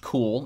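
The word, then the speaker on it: Kuhl: uh so his replacement will be starting pitcher Chad cool who was not particularly good with the Colorado Rockies last year but then again who is really um it's pronounced cool even though it's spelled kahul uh he's got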